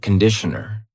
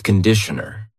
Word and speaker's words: conditioner: Be careful of the pronunciation. It's not conditioner. It's conditioner. The first vowel is a schwah.